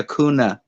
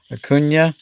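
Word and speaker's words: Acuña: i hear people say akuna akunya akuna because it's a kunya yeah that little wavy thing over the end right changes it into a y sound what is that thing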